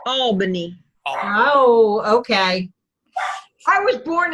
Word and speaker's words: Albany: Albany. You said it wrong. It's Albany.